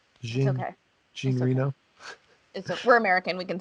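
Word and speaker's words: Jean Reno: saying his name wrong jean renau okay gene reno we're american we can say it yeah it's definitely john it's the last name yeah john reno i'll say in my american way uh i didn't understand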